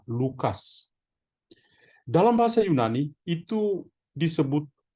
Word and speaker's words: Lukas: Dalam bahasa Indonesia pakai K, bahasa-bahasa lain pakai C. Bacanya tetap sama, Lukas.